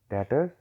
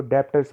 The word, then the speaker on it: debtors: उच्चारण इसका करते हैं, वो इसको डेप्टर्स बोल देते हैं। तो बच्चों इसमें जो है वो बी जो है वो साइलेंट रहता है, तो इसको डेटर जो है बोला जाता है।